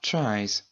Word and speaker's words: tries: comme try qui donnera tries avec le s qui se prononce donc z comme d'habitude mais avec le y devenant I e.